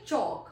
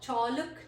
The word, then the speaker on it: chalk: Next word is chalk, chalk जिसे हम लोग लिखते हैं ब्लैक बोर्ड वगैरह पे, तो उसे चौक, हम लोग चौलक नहीं कहते, एल का साउंड इसमें नहीं है, तो हाउ to pronounce this word?